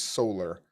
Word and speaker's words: Solar: name a little better, we added an R at the end for her English name, Solar, as in solar panel or solar system.